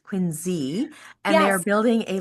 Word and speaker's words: Quincy: Um, Quincy. Quinzy is pronounced Quinzy.